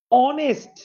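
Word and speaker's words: honest: অনেস্ট, হ আসে নাই, এন।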